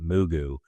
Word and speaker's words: Mugu: I don't know if you pronounce it Mugu, but it's Mugu.